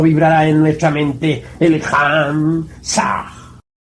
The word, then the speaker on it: Ham: Ham se escribe con las letras H-A-M. Saj se escribe con las letras S-A-H. La H suena siempre como J.